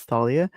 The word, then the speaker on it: Thalia: My name is Thalia. It's like Dahlia pronounced with the TH.